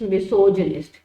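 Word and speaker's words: misogynist: Pronunciation ध्यान रखिए, मिसोजिनिस्ट, इट्स not again, it's मिसोजिनिस्ट।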